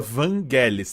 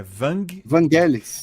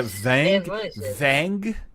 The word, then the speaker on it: Vangelis: Não, é Enquanto isso- Vangelis, tá? É Vangelis. É, a pronúncia inglesada é Vangelis.